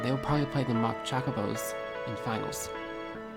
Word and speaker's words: Chocobo: probably play the mock chocobos in finals your pronunciation is wrong it's Chocobo it's not chocolates okay they didn't